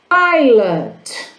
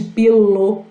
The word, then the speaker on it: pilot: Pilot, piloto. Tem uma caneta aqui que a gente chama de pilô, mas o certo seria pilot, tá bom? Que é piloto.